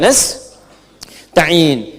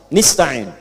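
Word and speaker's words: نستعين: Ada yang baca pakai kasrah. Nista'in ya. Nistain ini bacaannya dari Bani Asad, Rabiah, dan Bani Tamim. Tapi kita baca harus menggunakan fathah kalau untuk kita ya. Jadi bacanya apa? Nastain.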